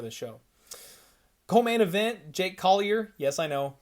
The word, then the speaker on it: Collier: train on the show calling him kali a i don't know why we do so many damn countries and pronunciations of names i messed that one up so jake collier taking